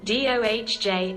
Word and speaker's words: Doge: you're familiar with the slang term Doge which is a misspelling and mispronunciation dohj of dog the dog in question